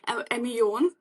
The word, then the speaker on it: Ameon: in my pronunciation yeah it's am on so it's it actually it comes from French yeah it's am and on yeah so it's like soul on okay so so on